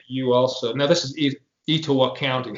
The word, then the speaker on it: Etowah: My guess, Ashley, is that you also, now this is Etowah County. How do you say that again? Etowah. Etowah?